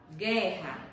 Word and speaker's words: guerra: Por exemplo, a palavra guerra. Guerra. Foi pronunciado o U do guerra? Não.